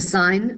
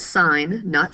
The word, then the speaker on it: sine: name the ratios the sine the cosine and the tangent ratios are referred to as the trigonometric functions the sine s-i-n-e we abbreviate as s-i-n we still pronounce it as sine not sin the sine of theta